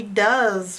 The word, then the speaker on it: does: Just like do is spelt with an O, does is also spelt with an O. But it's also spelt with an E-S. So the normal sounds are the D and the S. The strange sounds is the in the middle. The sound is being made by an O and an E, and